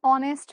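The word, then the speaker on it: honest: শিখে রাখি যদি আমরা এইচ এর উচ্চারণ এইচ এর মতো না করে ও এর মত করি ও এর মতো ও তো আবার একটা ভাওল সেক্ষেত্রে আমরা কি করি এন বসাই আবার বোঝাও এান অনেস্ট ম্যান অনেস্ট এখন এটা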